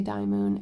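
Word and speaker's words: Dymo: It's Die Moon. They always say Die Moon. It should be called Die Moon.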